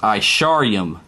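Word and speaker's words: עשרים: In Hebrew, 20 is pronounced Isharium. Isharium. Because Ishar is 10. You see, when you see a YM at the end of the word, end of a word, that means it's plural.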